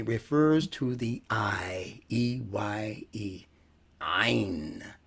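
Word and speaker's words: ع: And Ain literally refers to the eye, E-Y-E, Ain, from the back of the throat, Ain.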